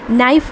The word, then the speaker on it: knife: KNIFE എന്ന് നമ്മൾ എഴുതിയിട്ട് വായിക്കുന്നത് എപ്പോഴും നൈഫ് എന്നാണ്. കെ എവിടെ സൈലൻ്റ് ആണ്.